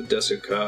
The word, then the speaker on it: ですか: You just don't pronounce the trailing U at the end of most Japanese words, or you say it so quickly as to be practically inaudible.